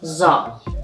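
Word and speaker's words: ظ: the twentieth letter is za za is pronounced likes again like a zebra in english and it's like the leather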